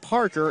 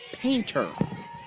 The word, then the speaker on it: Painter: i mispronounced a name it is not parker it is painter painter and with that as